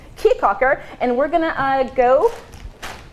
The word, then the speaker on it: Caye Caulker: do in cheek Hawker I keep saying caye caulker because the way that it's spelled but I'm gonna come right cheek Hawker and we're gonna I'd